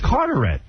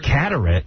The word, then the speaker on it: Carteret: Cuz it's spelled C A T here. It's Carterette. Oh, Carter, New Jersey. Yeah. Not Catarrett. It's Carter. Yeah. Carterette, New Jersey.